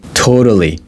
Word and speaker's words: totally: We want to use a different vocabulary, so we say totally. Totally, okay? Totally, but I can pronounce it like flap D. I can say totally different.